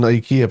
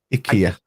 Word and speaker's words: IKEA: of the world should start pronouncing Ikea properly as well it's Ika ik Ika lad you're speaking to